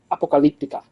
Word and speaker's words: Apocalyptica: as they will tell you it is properly pronounced Apocalyptica at their finish I believe it was a